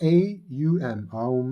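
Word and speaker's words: aum: The three syllables are a u m like that.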